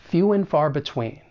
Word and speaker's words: few and far between: far between for pronunciation the first thing that we're going to do is reduce and to just n which is very common in spoken English and then we're going to link that final consonant sound and few with that beginning vowel sound and it's going to sound like few when few went far between say